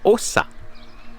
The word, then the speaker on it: Åsa: Donc comme je l'expliquais hier, ça ça se prononce Åsa. Oui parce qu'il y a un point en haut du ''A''. Donc ça fait un ''O''.